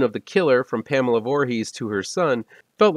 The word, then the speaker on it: Voorhees: popularly pronounced the stressor is on the first syllable four rather than the last one he's so it's four e's not voorhees which is how i've